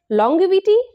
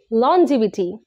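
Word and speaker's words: longevity: লঙ্গিভিটি নো এক্ষেত্রে জি এর উচ্চারণ গ না হয়ে জ হবে তাই সঠিক উচ্চারণ হবে লঞজিবিটি মানে হচ্ছে দীর্ঘায়ু ও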